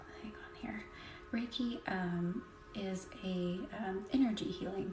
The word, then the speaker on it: Reiki: that is awesome and Reiki is spelled r-e-i-k-i and actually I believe the correct pronunciation is since um Japanese doesn't really have an R sound call me you absolutely